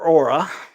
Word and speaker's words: Aura: right 10 reasons for Aura I know it's a UR a but that's how they want me to pronounce it Aura uh the online for